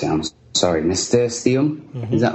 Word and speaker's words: nasturtium: I don't even know how to pronounce it. I'm sorry, nasturtium.